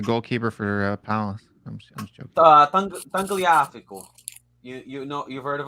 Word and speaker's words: Tagliafico: He plays for Ajax, but I think how you say it in English is Tangliafico. Gaia Valencia. Tagliafico.